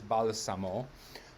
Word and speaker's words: balsamo: s beside each other should make the s sound like z but no it is balasamo ancia his name is